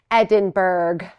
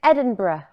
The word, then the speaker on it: Edinburgh: who are like us you may be tempted to read this word here on the sweatshirt and say Edinburg Edinburg but we don't say it like that nope now you know the official way to say it and if you're confused it is Edinburgh it's a little bit soft on the end but if it feels